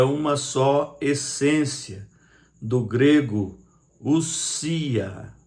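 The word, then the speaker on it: οὐσία: Deus é uma só essência, do grego ousia, porque o O ali não se lê. Ali é o encontro vocálico no grego de ômicron com Y, e quando existe esse encontro vocálico, o ômicron é mudo, então se lê ousia.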